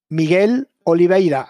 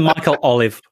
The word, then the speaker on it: Miguel Oliveira: on white can you say his name again miguel oliveira yeah that's nearly what i said continue just call calling michael olive yes michael exactly but look i have to